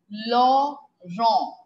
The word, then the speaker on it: Laurent: french song if song l a u r e n t law wrong like in english we say laurent isn't it in french it is law wrong long wrong eve song